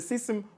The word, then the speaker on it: CISM: We wish the Kenyan team all the best as they host the I'll pronounce it correctly because Okabi told me to pronounce it correctly. It's the system military world championship.